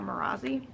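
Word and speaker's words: Marasi: doing that and yes i say her name is marissa i know most people call her marazzi don't like it staris is probably my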